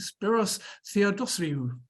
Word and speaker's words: Spiros Theodossiou: So please welcome the Chief Product Officer at ClearBank, Spiros Theodosiou.